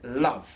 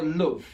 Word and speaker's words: love: Number 18, love or loove as it's pronounced in the north of England.